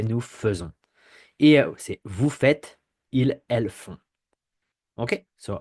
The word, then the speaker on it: fait: We have a T, but the pronunciation remains the same.